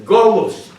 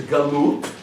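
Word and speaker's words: גלות: to as the galut in ashkanazi pronunciation is Galos but the correct Hebrew uh pronunciation is galute meaning the Exile not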